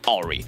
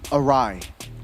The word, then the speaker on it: awry: it went completely completely Ori. And I think RSG already knew that was over. Awry. It's how it's pronounced. Awry. Not Ori. Ori.